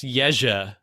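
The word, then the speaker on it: Jerzy: uh to him um jersey stew how do you pronounce that by them it's pronounced yejah yejah yes store it's the polish equivalent of george okay uh both of these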